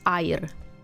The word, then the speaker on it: air: Yeah, but you don't pronounce it as air. You pronounce it as air. Air. Okay? Air. So yeah, if you do get lost in Indonesia, you'll drink water and survive. Air. It's not air, but it spells the same.